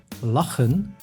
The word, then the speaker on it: lachen: with the consonant combinations say plus ha makes same sound as the letter like in Len which means to laugh but it can also